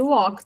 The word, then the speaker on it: walk: Se eu falo I walk, cuidado com a pronúncia de walk também, que não tem o L, nada disso. Ele é um O seco.